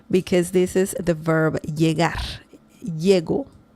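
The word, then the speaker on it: llego: Yego. It's a different pronunciation because in predict past tense you can say elgo.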